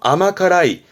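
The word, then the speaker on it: 甘辛い: 짠 거고요 요거는요 앞에가 달감 자가 들어 있네요 발음은 그래서 아마카라이 아마카라이는 달고 매운 거니까 매콤달콤 그럼 매콤 달콤함을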